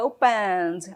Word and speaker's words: opened: Aqui no caso, né, a letra E é muda, não falo opened, tá bom? É opened, opened.